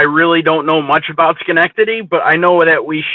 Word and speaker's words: Schenectady: In case of relocation, if I would move to the US, so there is this big plant in Schenectady. Am I pronouncing it correct? Yeah, Schenectady.